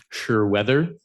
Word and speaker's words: Sure Weather: My understanding is that Sure Weather is how that's pronounced, by the way.